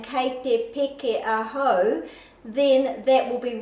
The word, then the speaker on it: peke: means I am jumping, if your pronunciation is a little bit off and you're not saying your peke, so the vowel sounds a, e, I, or u, so this is an e, Kei Te Peke Ahau, then when you get